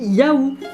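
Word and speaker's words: já: Pour dire oui, c'est marqué J, accent A, accent bizarre, et ça se dit Yahoo. De toute évidence, ça ne veut rien dire. Donc même je t'aime, ça s'écrit avec un P bizarre, enfin c'est n'importe quoi.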